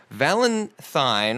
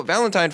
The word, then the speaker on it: Valenthyne: Valentine or Valentine Farfalla is spelled Valenthyne. It's very bourgeois. It's like thyme, almost, the herb.